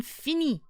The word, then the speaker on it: Finny: Welcome in, Finny. Like Finny, like finished, like finished in French.